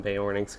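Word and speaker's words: Beornings: should try to start calling them bay warnings because I think that's how you're actually supposed to pronounce it I just never heard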